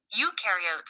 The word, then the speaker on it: eukaryote: Eukaryotes, on the other hand, remember eu rhymes with do, and they do have a nucleus and other membrane bound organelles.